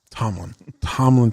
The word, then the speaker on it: Tomlin: I always want to say his name's Coughlin for some reason, even though I know it's not. Tomlin.